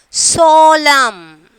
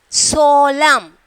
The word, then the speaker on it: solemn: Solemn. Up to that only we are pronouncing. That N is the silent letter. Okay. So we are pronouncing S-O-L-E-M. Up to that only we are pronouncing. That N, they are joined in this word, but we are not pronouncing.